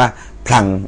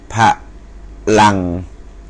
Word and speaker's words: พลัง: พระ ลัง นะ ครับ ไม่ ไม่ ได้ อ่าน ว่า พลัง อ่าน ว่า พะ พะลัง นะ ครับ ต่อ ไป อัน